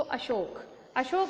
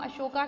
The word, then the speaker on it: अशोक: तो अगर आपको याद हो और आपने मूवी भी देखी होगी, तो अशोक वॉज दैट एम्परर, ठीक है, जिसको हम अशोका कहते हैं। हालांकि अशोका नहीं था बेचारा, वो अशोक ही था, बट वो इंग्लिश का प्रोनाउंसिएशन होता है अशोक।